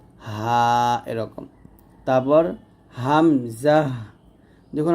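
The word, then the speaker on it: همزة: ভাবে হা এরকম তারপর হামজাহ দেখুন হামজা উচ্চারণটা আমরা অনেকে ভুল করি এটা বানানটা দেখুন হা মিম জবর হামজা হা জবর জাহ হামজাহ হামজাহ হামজাহ এরকম তারপর ইয়া জিহ্বার মধ্যখান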